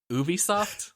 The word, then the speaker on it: Ubisoft: then I'll tell you right I'm gonna say Ubisoft yeah that's right okay the Ubisoft well it's